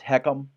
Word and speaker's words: HECM: So what is this heckham? H ECM. It's it's just a high of excuse me, it's a home equity conversion mortgage. It's pronounced heckum.